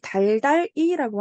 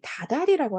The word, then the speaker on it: 다달이: 한 단어가 만들어진 건데 그런데이 달달이라고 하지 않고 우린 이것을 실제 합성어를 표기하고 발음할 때 지금은 어떻게 한다이 다달이라고 한다는 거야 그래서이 다달이라는 단어를 만날